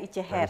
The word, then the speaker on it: ItjeHer: Jadi pronounce yang benar itu adalah Ice Hair sebenarnya.